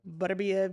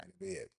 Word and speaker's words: Beterbiev: Is it Beterbiev? Nobody knows how to Better pronounce. be, well, Butterbeef, Beterbiev. I've heard it all. if you're not Benavidez, that's No, no, it's better be definitely it. not. Better be it.